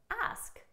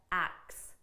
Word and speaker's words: ask: now let's compare that now that you know how to pronounce asked correctly let's compare that to ax ax notice it just goes from ah ax so our sounds are almost reversed this one is a